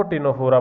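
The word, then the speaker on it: Ctenophora: ठीक है, सी साइलेंट होता है, टीन बोलते हैं, इसीलिए इनका जो नेम है वो टिनोफोरा पड़ा।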